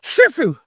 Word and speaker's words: Shih Tzu: He's a probably a Shih Tzu mix of something. Oh, you got to say it like this. You know it. Ready? Shu.